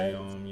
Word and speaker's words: Sayam: It's spelled Sayam. It's pronounced What? Sayom, yeah, but I've started to not care as much because I think Sesame. Oh is man, fine I feel too. like a new gen. I think Sesame is fine too, but yeah.